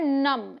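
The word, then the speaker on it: numb: विंट्री एयर फिर है नम इसे हम नम पढ़ेंगे बी साइलेंट सुनन या सोया हुआ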